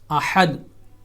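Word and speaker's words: أحد: ادا کیا جائے گا، احد، ہا کا مخرج صحیح طور پہ ادا کیا جائے گا، جو حلق کا درمیانی حصہ ہے، وسط حلق کا مڈل آف تھروٹ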